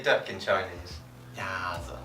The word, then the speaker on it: 鸭子: 鸭子. 鸭子.